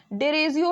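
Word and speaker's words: Derozio: Pronunciation में थोड़ी सी problem हो रही है, डेरिजियो है एक्चुअली में।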